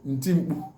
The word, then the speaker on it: ntimpu: Interjection is called ntimpu, which is spelled as ne te I me be u.